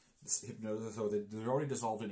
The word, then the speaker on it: Hypgnosis: Hypnosis, see? Yeah. Now, these guys, I'm and pretty it's spelled sure...